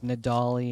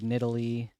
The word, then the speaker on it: Nidalee: Like Nidali instead of Nidalee.